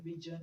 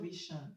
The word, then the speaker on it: vision: The S in vision is pronounced j, j, and not sh, j. So it's not vision, it's vision.